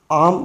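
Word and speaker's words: I'm: इसको यहाँ देखिए आई और एम का कंस्ट्रक्शन है, इसको आम बोलेंगे, ठीक है। आम, IM है, आई एम। आप इसको उच्चारण में बिल्कुल जिससे IM दिया गया है, इसको आप आम ही पढ़ें, ज़्यादा बेटर है, आम, ठीक है।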